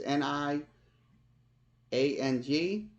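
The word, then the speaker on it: Niang: another guy Lucas on not Nigerian not urine I'm saying his name right it's ni ang so we we don't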